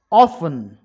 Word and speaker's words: often: Often, T silent.